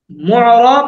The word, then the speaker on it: معرب: মুআরাব মাবনি, বলেন তো উস্তাদ। معرب মুরাব মাবনি। মুরাব মাবনি মুআরাব মাবনি। مبني মাবনি, মুরাব এটাকে মাবনি মাবনিয়ুন মুরাব মূল উচ্চারণ, কিন্তু আমরা مبني যখন স্বাভাবিক উচ্চারণ করব বলবো মুআরাব মাবনি, মুআরাব মাবনি।